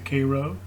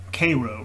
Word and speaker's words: Cairo: kind of seal off cairo here cairo rather i think it's pronounced and that's kind